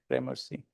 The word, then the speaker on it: Gramercy: I'm pronouncing correct, Gramercy? Gramercy.